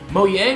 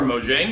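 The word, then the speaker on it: Mojang: okay at Gamescom 2015 moang or moang depending on how you want to pronounce that and what part of the world you're in uh says that they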